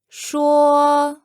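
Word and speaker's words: 说: the word for to speak in Mandarin is sure sure say I speak sure and the word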